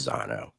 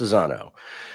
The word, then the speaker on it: Zano: they pronounce it and they they told me it's Zano it's Zano so here we are